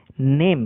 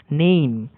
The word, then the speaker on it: name: যেমন উদাহরণ হিসাবে দেখা যাক শব্দ, উদাহরণটা হচ্ছে নেম, NAME, উচ্চারণ হচ্ছে নেমি না, নেইম।